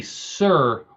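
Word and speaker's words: Cyr: spun non-stop in a sir wheel for 40 minutes and eight seconds now if you don't know what a certain sir is spelled uh c y r sir see why I'll tell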